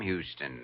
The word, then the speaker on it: Houston: But Houston's a famous Texas name, Sam Houston. Sure, but it's also a famous Lower East Side name, the street where I was born. Except here in New York, you pronounce it Houston.